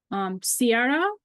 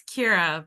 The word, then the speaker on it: Kira: Sierra, if I'm pronouncing your. Hi, it's Kira, but Oh, sorry.